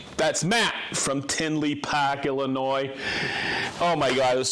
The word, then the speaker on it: Illinois: i found out there's the s on illinois is not pronounced with an s it's not illinois are you sure no